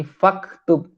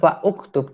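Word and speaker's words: فاكتب: Ya, sehingga uktub di situ menjadi faktub. Tidak terbaca hamzahnya, bukan fa'uktub, tapi faktub.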